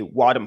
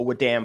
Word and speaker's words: wadm: is we always include a wadm file a wam file depending on how you want to pronounce it so this one is